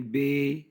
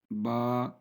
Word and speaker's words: ب: 29، یہ 29 ہیں۔ حروف مفردات کو تجوید و قرات کے مطابق عربی لہجہ میں ادا کریں، اردو تلفظ سے پرہیز کریں، یعنی بے، تے، سے، ہے، خے، توئیں، زوئیں وغیرہ ہرگز نہ پڑھیں، بلکہ با، تا، سا، حا، خا، تو، ظا پڑھیں۔ ان 29 حروف میں